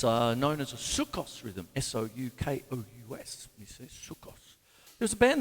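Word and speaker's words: soukous: and four it's uh known as a sukkos rhythm s-o-u-k-o-u-s there's a band that was on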